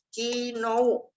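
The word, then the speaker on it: きのう: Kino. Ada U-nya. Bukan dibaca kino. Nah, ini saya ajarin. Dibacanya kino. Jadi kalau ada O dan U nempel, itu dibacanya panjang.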